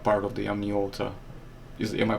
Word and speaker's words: Amniota: And of course, we are not including, I presume we're not including others because they are not part of the Amniota. Am I pronouncing it right?